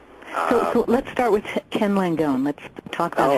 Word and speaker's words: Langone: Paul Singer, Ken Langone, is it pronounced? Langone.